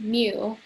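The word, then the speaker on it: μ: now here we have this greek symbol it's pronounced mu and it's the mean of all values in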